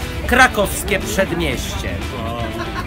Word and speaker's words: Krakowskie Przedmieście: All right, let me tell you now how it should be pronounced. Krakowskie Przedmieście.